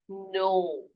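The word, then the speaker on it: know: अगला नो, है ना, जैसे कि हमने निट को पढ़ा था, यहाँ पर KNIT को, के को साइलेंट कर दिया हमने, तो ये पढ़ेंगे नो, ठीक है, नो।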